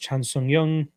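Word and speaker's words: 정찬성: patreon once again uh korean zombie's name is pronounced chan song young young not young okay thank you i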